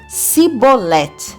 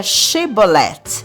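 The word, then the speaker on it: shibboleth: Os efraimitas descendentes de Jacó pronunciavam essa palavra como Sibolete, porque eles não conseguiam pronunciar esse fonema ou esse som aqui, o sh. Então, o jeito mesmo correto de pronunciar seria Shibolet.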